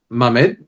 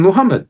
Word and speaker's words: Muhammad: Um, but it doesn't change the fact that it's he's just saying it's in that form and it's Mamemed or Mhmed and Muhammad. There's two pronunciations. They persist.